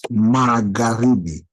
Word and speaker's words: Magharibi: So you don't pronounce the H.